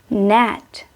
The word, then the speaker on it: gnat: GN together make N sound. It means letter G is silent. We don't read it. We're gonna say N like sign, gnat, design, gnarled.